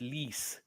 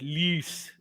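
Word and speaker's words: Luus: of trivia um cna's surname is actually pronounced l-w-e-s lease but I suppose with the um the way it's spoken in that Afrikaans and dialect it can be sort of loose or loose like that loose is that right loose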